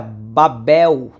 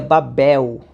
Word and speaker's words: Babel: aparece no Novo Testamento Então seja pronuncia em hebraico seria Babel né então quando aparece a palavra Babilônia no antigo testamento no hebraico a pronúncia seria Babel Ou seja a raiz